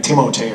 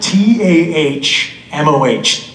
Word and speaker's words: Tahmoh: It always amazes me how people sometimes throw in an extra syllable, though. It's the strangest thing. I used to have teachers do that. They'd call me like Timote or something. Tumaha. What? T-A-H-M-O-H. Tahmoh?